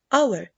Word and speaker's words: hour: Let us move to the silent H, like what, honest, white, and Hour.